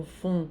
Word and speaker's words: vont: O S aqui não se pronuncia, aqui o vont, o T não se pronuncia, Paris.